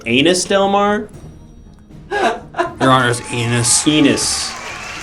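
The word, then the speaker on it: Ennis: it probably all right anus rhymes with penis that's pretty fun all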